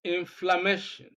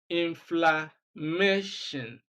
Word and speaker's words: inflammation: Words ending in ion, we know that the rule is that we have to stress the second syllable from the end of the word. So when we look at 1, 2, 3, 4, the second syllable is MA. So we are going to look for the option that contains stress on MA.